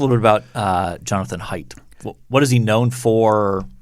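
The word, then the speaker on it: Haidt: the things i enjoyed in this article jonathan pronounce it height height yes a-i-d-t yes one of the things i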